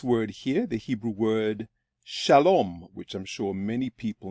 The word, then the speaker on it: shalom: In this video, we're going to look at this word here, the Hebrew word shalom, which I'm sure many people know.